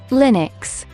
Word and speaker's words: Linux: Linux Linux pronounced Lin UX is a family of open-source